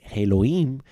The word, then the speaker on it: Elohim: edwin literalmente significa dioses en la manera en la cual los hebreos la pronuncian elohim significa dioses o cuando